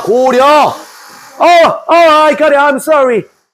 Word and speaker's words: 고려: 고리어가 아니고 고려 해봐. 고려. I got it. I'm sorry. Korea. 진짜 고려가 아니고 고려라니까. 고려. 아니 말귀를 못 알았네. 고려. 그러니까 발음 너무 어려워. 고리어.